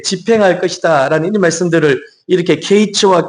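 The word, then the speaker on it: קַיִץ: 이게 뭐냐면은 여름실과 이것이 히브리어로 케이츠라고 해요. 케이츠. 그리고 끝 이이이 뜻이 이제 히브리로 캐츠라고 하죠. 그러니까 케이츠와 캐츠가 비슷하잖아요. 그 발음이.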